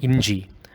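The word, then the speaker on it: இஞ்சி: you pronounce this word, it is something like saying inj, like inji. The N in inji, which is ginger in Tamil, is the same sound which is used here.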